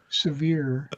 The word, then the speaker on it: Sevier: No, because it's named after John Sevier, severe.